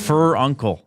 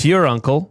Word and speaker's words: furuncle: Some might say fur uncle. f u r u n k e l. Is it c e at the end? It's that it's fur uncle. Yeah, but it's pronounced fur uncle.